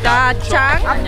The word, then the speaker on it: Da Nang: in den Osten gefahren, in ein Dörfchen namens Da Chang. Da Chang? Da Chang? Wie? Irgendjemand muss es mir sagen. Den Namen, wie der richtig ausgesprochen wird vom Dorf. Da Chang?